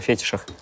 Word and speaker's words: фетиш: Ну это уже, блин, если вам такая нравится тема, это, короче, мне кажется, уже разговор о фетишах. О фетишах. Вот. Фетишах. Так, правильно, посмотрите ударение. Фетиш.